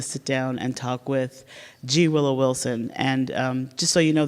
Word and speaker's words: G. Willow Wilson: down and talk with G willow Wilson and just so you know the G is silent I learned this the other day it's it's a wonderful